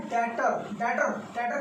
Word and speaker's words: debtor: डेटर कौन होता है? देखिए इसकी स्पेलिंग है DEBTORS। तो यहाँ पर बी साइलेंट होता है, ये याद रखिएगा, बी साइलेंट होता है, इसलिए इसको बोला जाता है डेटर।